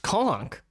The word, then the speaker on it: conch: So he tweets us and say it's pronounced conch. What? I think that's a regional thing. I've heard both pronunciations.